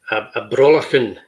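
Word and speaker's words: Brollachan: A Brawlachan is a Brawlachan. Yeah, so it's a hard C with the CH.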